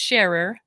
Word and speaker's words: Scharer: all about my name's and um it's sharer it's complicated when you spell it yeah yeah yeah that's terrifying i should